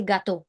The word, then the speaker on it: gâteau: However, if we are talking about G followed by any other alphabet, let's say gâteau, right? Cake. That's the G is pronounced as G.